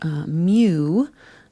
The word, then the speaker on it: mu: Our mu, it's written mu if we were going to write out the name of the Greek letter mu, but it's pronounced like M-E-W, like a cat.